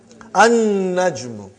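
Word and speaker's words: النجم: An-najmu. You did not pronounce lam because noon is a shamsi, sun letter.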